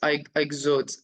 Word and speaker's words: Ixodes: Yes, it's ixodes.